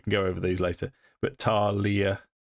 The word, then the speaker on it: Thalia: But Talia, which is spelt Thalia, but it's actually pronounced Talia, and then Uray.